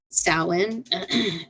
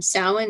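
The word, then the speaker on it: Samhain: ready to um celebrate sin um sin is an Irish word um it's spelled s m h a i n don't ever try to pronounce Irish the way it's spelled Irish gay is really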